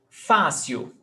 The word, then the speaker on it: fácil: Fácil, paroxítona, the stressed syllable is before last, termina em L, então, fácil, acento.